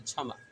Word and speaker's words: क्षमा: अगर पहले रहेगा, जैसे मान लीजिए क्षमा, क्षमा, ये शब्द के शुरू में ही छ है, तो यहाँ पर क का उच्चारण नहीं होगा।